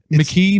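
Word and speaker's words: Makee: he's uh the same it's McKee Mackie it's amazing both ways though but in the show they legit say it both ways I think it's McKee well it's it's spelled m-a-k-e-e or some e y or some it's like McKee either way so this is this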